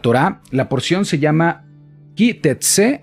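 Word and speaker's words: כי תצא: La porción se llama Ki Tetse, así es como se pronuncia en fonética, en nuestra fonética, así es como se escribe en hebreo.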